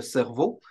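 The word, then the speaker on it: CERVO: qui s'appelle le Centre Cerveau. C'est un acronyme qui se prononce comme le cerveau.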